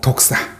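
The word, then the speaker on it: δόξα: 생각해 보려고 합니다 영광 헬라어로 독사는 그 독사 발음이 똑같아요 독사 그게 영광이거든요 그런데이 영광 독사는 하나님의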